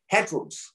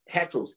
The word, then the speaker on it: heteros: greek that word there is a different word it's spelled heteros heteros h e t e r o s hat